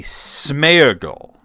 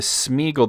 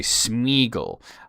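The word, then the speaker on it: Sméagol: said, "Well, you know, doesn't that mean that it should be smearable?" And uh because doesn't the accent mean that the e is its own syllable? And I said, "Well, no, that would be more of a two dots situation sort of as you see in Feyenor. Uh the Smeaggle, the accent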